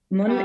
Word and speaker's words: Mun: Mun, Mun is how you pronounce my name. Mun. My name is, sorry, and yes.